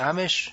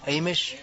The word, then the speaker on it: Amish: Amish? Amish. Amish. I heard it pronounced both ways.